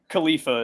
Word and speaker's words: Khalifa: And then Khalifa is the correct way to pronounce his last name.